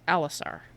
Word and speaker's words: Alisar: I was mispronouncing it slightly before. It's Alisar, not Alisar.